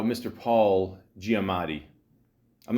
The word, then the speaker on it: Giamatti: not going to lie I had to look up how to properly say his name I used to say giomani but you know I'm I'm Italian I'm used to Gia Gio all that